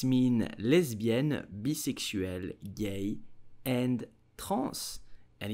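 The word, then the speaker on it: lesbienne: sexual orientation okay so English pronounce it lesbian but ah French pronounce it correctly you will simply say lesbian Les bien less bien lesbian did you know that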